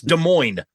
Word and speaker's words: Des Moines: the best and Paul both say the silent s in Des Moines because it's Des Moines they're like all right